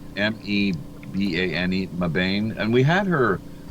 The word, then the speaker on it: Mbane: Carolina remember yeah I remember it's pronounced m b a n e mbane and we had her on on with us actually.